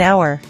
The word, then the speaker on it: hour: Examples: an apple, an orange, an egg, an umbrella, an hour. Notice something important. We say an hour because the H is silent.